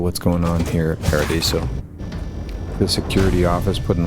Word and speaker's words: Paradiso: Welcome to Paradiso. Jiro Sukiyama at your service. Do you have a security concern, or is there something else I can help you with? Your pronunciation is Spanish. It's Paradiso.